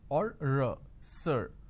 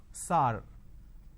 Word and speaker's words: sir: changes of this word majority of the people pronounce the word sir as sar sar can you please answer my question so instead of saying sir they say sar so this is a pronunciation mistake now how do we identify it's a pronunciation mistake instead of a vowel sound er they end up using a vowel sound r another example the word